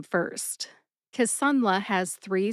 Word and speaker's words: Kisunla: Emphasize that middle syllable, sun. See if you can hear the emphasis when I say it again. Casla.